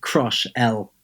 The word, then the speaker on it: Crushell: It's basically like Crushell. So Crushell. Yeah, but then you say it really fast. Crushell.